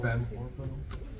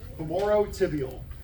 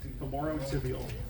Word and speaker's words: femorotibial: It kind of looks like orbital when you glance at it. It's spelled similar. Fem orbital. Femorotibial. Femorotibial.